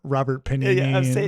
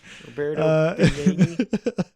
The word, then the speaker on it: Roberto Benigni: I love if you get his name wrong like every time. Robert Panini, Roberto Beignets, fucking whatever. Roberto Benigni.